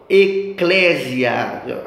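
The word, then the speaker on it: ekklesia: que a palavrinha é eclésia. Grava aí, ó, eclésia. Vou soletrar para você, tá? Ó, se escreve com a letra E, aí a letra K duas vezes. E-K-K-L-E-S-I. Eclésia. Então, E-K-K-L-E-S-I-A. Eclésia.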